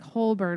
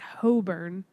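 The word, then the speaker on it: Holborn: station and it was it doesn't sound like hole burn which is h-o-l-b-o-r-n it sounds like hoe burn yes shouldn't say it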